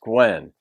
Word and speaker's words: Gwyn: reaction to Gwen Bridges it's spelled Gwyn but it's pronounced Gwen thank you for that